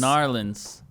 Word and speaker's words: New Orleans: You said New Orleans. New Yep. Orleans. Narlands.